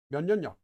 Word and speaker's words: 면역력: So not only does a lack of sleep make someone tired, but also 면역력. 면역력 is probably, in my opinion, the most difficult Korean word to pronounce for a non-native speaker. 면역력 is immune system.